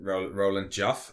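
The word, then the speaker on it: Roland Joffé: But before we go into the summary, the producer, Roland Joff, I think is how it's pronounced, he kind of summed it up when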